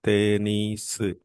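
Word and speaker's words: テニス: Tenisu. This is an English word, tennis. Tennis is an English word. So, the word tennis is changed according to the Japanese pronunciation and it was called as tenisu.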